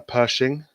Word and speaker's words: Pershing: terrible at names by the way tonight uh pershing not badly yeah that was good pronunciation and it's got a three inch gun